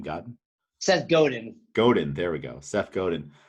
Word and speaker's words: Godin: does he say his name god seth godin godin there we go seth godin uh now he was og crossfit ceo explain a little more about him well wait wait i believe you're talking about seth godin who had nothing to do with crossfit he